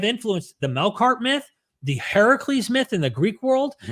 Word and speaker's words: Heracles: However, even other critical scholars think that Heracles, which is the Greek pronunciation, which means the older version of Hercules, influenced the biblical Samson story.